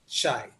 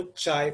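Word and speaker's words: χ: Constant of proportionality is what, चाय। इस symbol को चाय प्रोनाउंस करते हैं या कोई ची प्रोनाउंस करता है।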